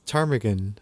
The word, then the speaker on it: ptarmigan: not yeah yeah it's tarmigan I think that's how it's oh the p is silent yeah I guess so